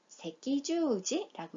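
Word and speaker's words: 赤十字: 자, 예문 단어인데 세키주지묘잉이라고 해서 적십자, 세키주지라고 읽고요.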